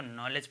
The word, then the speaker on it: knowledge: में आ रहा है, तो के साइलेंट रहता है, इसमें W भी साइलेंट रहेगा, इसमें D भी साइलेंट होता है, तो इसका नॉलेज, ठीक है, नॉलेज, ठीक है, W भी साइलेंट हो जाएगा, D भी, तो इसको नॉलेज पढ़ा जाएगा, KNOWLEDGE, ठीक है।